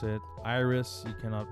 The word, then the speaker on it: IRYS: Iris, you cannot mispronounce it. But you can go just spell it. Hello IRYS. Like an IRS.